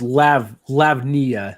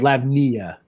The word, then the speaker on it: Lavinia: Is it Lavinia? Is that how you pronounce her name? I always feel like I mispronounce it. Lav, I think it's Lavnia. I think it's how you say it. I think you're right.